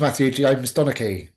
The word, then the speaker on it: Matthew Donnachie: Hi, my name's Matthew Donaki.